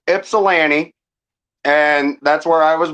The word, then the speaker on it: Ypsilanti: So, it's called it's pronounced Ipsellani and that's where I was born. That's where my story originates. Ipsili. Yeah, it's kind it's it's exactly the way it's spelled.